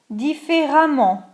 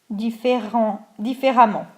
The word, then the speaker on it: différemment: Mais on le prononce de la même façon. Exemple, constant, ANT pour l'adjectif, l'adverbe constamment, constantly. Courant, ANT, couramment, A2MENT, fluently. Différent, ENT, différemment, differently.